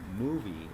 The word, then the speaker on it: MUVI: And this is being filmed with the movie, it's spelled M-U-V-I, camera made by Viho.